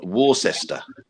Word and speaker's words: Worcester: -2 in Worcester.